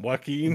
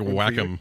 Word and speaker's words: Joaquin: Joaquin. Joaquin is his name, but I like Joaquin. I like Whack'em.